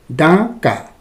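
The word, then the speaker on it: डाँका: अलिकति हामीले यसलाई ड माथि चन्द्रबिन्दु दिएकोले अनुनासिक उच्चारण गर्नुपर्ने हुन्छ, डाका।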